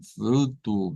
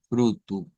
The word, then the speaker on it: fruto: Y miren, la última, vea, ya vimos que termina en U, la palabra es la misma que en español, pero va a sonar como fruto, vea, más como una U al final que una O. Miren, aquí estaría fruto, fruto. Bueno, entonces hasta acá tendríamos,